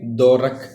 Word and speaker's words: Dvorak: की first article है daurakh technique we silent है ठीक है दो रख यहां पे आप पढ़